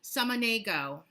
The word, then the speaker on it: Samaniego: Please welcome Jewlya let me pronounce this correctly, because I know that I hate when people mispronounce my name. Samaniego.